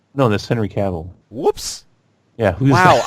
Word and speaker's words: Cavill: last time you said Henry Cavill's name wrong, so that's okay. I got you. No, that's Henry Cavill.